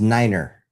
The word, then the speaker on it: niner: Well, phonetically in English is niner actually, not nine.